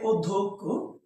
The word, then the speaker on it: অধ্যক্ষ: বলি যদি বলি যে অধ্যক্ষ অধ্যক্ষ যেমন দেখো এটার উচ্চারণ হচ্ছে ও ধক্ষ ওকে তাহলে এখানে দেখুন